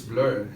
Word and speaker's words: Bleu: I think Yeah, it's pronounced in French. Yeah, that translates to Blur. Where? Blur. Yeah. Oh, okay. I Yeah. didn't know I had to read it in French. Okay, it's Blur. Yeah.